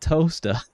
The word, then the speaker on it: Towcester: You pronounce it toaster.